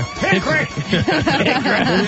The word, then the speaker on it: Hickory: But you don't really pronounce the O. It's just Hickory like that.